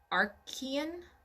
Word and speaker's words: Archean: So 4 billion years ago, for those who are wondering, that's the Archean eon, I'm going to say. That's how it's pronounced.